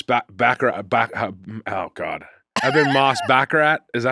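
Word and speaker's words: Bachrach: Eban Moss Bakarat. Is that how you say it? Backrock.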